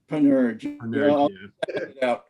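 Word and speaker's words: Panurge: and jack if you wanna know how to spell it's p-a-n-u-r-g-e advent of panerai you doing you'll clean it up right yeah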